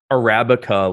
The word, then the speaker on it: Arabica: saw that word and i pronounced it so wrong arabica but it's arabica like the coffee or something it's been arabica in